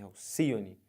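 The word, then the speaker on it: Alcíone: ave mitológica o nome dela é Alcione e não Alcione é Alcione as sílaba tônica é essa aqui então se você conta última penúltima antepenúltima Alcione é uma palavra proparoxítona beleza aqui ó aríete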